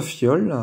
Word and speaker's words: fiole: Faut juste bien penser à mettre le i avant le o, pour que ça fasse io. Si vous mettez le i après le o, ça fait wa, ça aurait fait foile, hein.